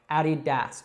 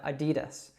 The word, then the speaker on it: Adidas: So Adidas. But we don't say it like that. We actually shorten it to Adidas.